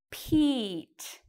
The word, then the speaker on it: Pete: That actually sounds like the letter E. Pete. E. Pete. So we need the silent E here.